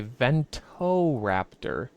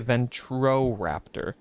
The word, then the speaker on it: Ventoraptor: for a thumbnail, that it is in fact called a Ventoraptor and not a Ventroraptor. So I don't know how many years I've been saying his name wrong, but it's been all of them. So I will probably still say it my way, but just know that I know that I'm doing it wrong.